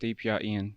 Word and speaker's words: DPR Ian: pronounced correctly? Yes, that is correct. DPR Ian.